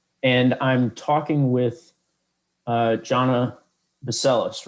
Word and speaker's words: Johnna Bacelis: transportation communications union and i'm talking with uh jhana baseless right that's how you pronounce it yes yeah jonah baseless um and